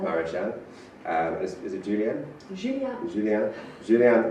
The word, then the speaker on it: Mareschal: Oh, how do you pronounce that? Maréchal. Maréchal.